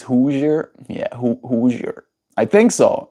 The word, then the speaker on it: Hoosier: It's not pronounced Hoser. It's Hoosier.